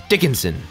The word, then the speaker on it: Dickinson: a lot of Bruce Dickinson Dickinson sorry for mispronouncing it before Dickinson honestly the song just kind of has a